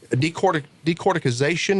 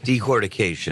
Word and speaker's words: decortication: I was shocked at the fact that you're able to take even the dust that results from the decorticization. Am I saying it right? Decortication.